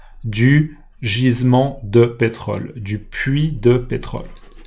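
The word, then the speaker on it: puits: ce qu'on appelle un puit d'accord ça s'écrit d'ailleurs toujours P u i t S même si c'est un puit il y a un S donc voilà en fait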